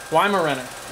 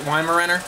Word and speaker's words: Weimaraner: lima run yeah yeah why marenick yeah is how you say it Weimaraner yes the German goes